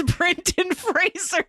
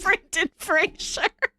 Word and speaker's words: Brendan Fraser: It's Brendan Fraser, not Brendan Fraser.